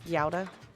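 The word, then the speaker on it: Gouda: pronunciation of uh cuz in America we call it guda cheese, but it's gauda.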